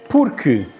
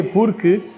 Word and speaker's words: porque: Or it's not, I know there's a U there, but it's k.